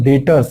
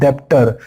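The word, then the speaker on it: debtor: याद कर लो, डेटर्स, इट इज नॉट डेप्टर, इट इज डेटर, यहाँ बी साइलेंट होता है, और ये है बिल रिसीवेबल।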